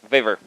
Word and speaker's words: Vavr: So being a Russian from Estonia, I typically pronounce things the way they're spelled. So it's V-A-V-R. So I call it Vavr. So just like Stanislav Wawrinka, the tennis player. So official version is that it's waiver.